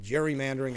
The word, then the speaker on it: gerrymandering: It's G E R R Y, but gerrymandering. I I've been told I say it wrong. Jerry or jury, however you want to say it.